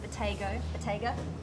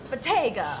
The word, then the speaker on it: Bottega: I've already forgot to have how to pronounce it. Bottega. No, Italian. Bottega. Bottega.